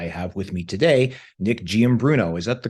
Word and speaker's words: Giambruno: and um I have with me today Nick giambruno is that the correct pronunciation or is it Gambler yes that's correct